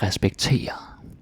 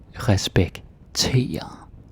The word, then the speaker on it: respektere: And notice I put the stress on this ear. Respektere. Don't say like respektere. Like respektere. No. Respektere. That's how you say it, because you have the E-R-E. Then that's how the stress is.